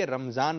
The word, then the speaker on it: رمضان: تلفظ کے ساتھ لیں، جیسے قرآن پاک میں را پر بھی زبر ہے، میم پر بھی زبر ہے، رمضان۔ تو رمضان رمضان اس